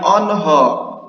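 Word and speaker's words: آنها: Onho ini tuh kalau ada tanda ini di alif, tanda mad jaiz ya. Ini tuh dibacanya o, o. Jadi ini dibacanya onho, onho, onho.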